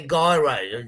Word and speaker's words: gyros: But I did enjoy the gyros. Is it gyros, what are euros? Or officially, it's a gyros. Gyros. That's the official Greek pronunciation.